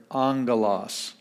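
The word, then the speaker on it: ἄγγελος: the word here angolas the first gamma has an n sound and then we get the g sound galas angolas that's where we get the word angel of course when we spell it in english we insert the end there the way that the the word sounds but it's spelled with two gammas in greek so angolas means a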